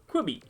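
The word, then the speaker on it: Qbby: puzzle game in which you take control of Quibby. I think that's how you pronounce it. It's Q-B-B-Y. Quibby.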